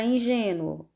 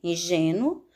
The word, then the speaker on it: ingênuo: Na palavra ingênuo, nós temos como sílaba mais forte o gen, ingênuo, e essa paroxítona, que última, penúltima, essa paroxítona é terminada em ditongo. Por essa razão, tem que ser acentuada. Como o som de ingênuo é fechado, nós devemos colocar o acento circunflexo, porque eu não digo ingênuo, eu digo ingênuo.